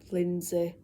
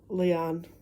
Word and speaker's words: Lindsay: right now her name's Lindsay Browning I've mentioned in a video what's lording but I got her name wrong I thought it was um um lean but it's Linds so I'm sorry Lindsay I